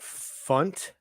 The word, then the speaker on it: Funt: quote from uh Juliet Funt is her name is that what it rhymes with it rhymes with uh squeeze bunt okay great all right